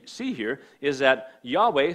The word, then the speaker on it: Yahweh: of god yahweh okay sometimes people say jehovah but that's a bad pronunciation yahweh is the correct pronunciation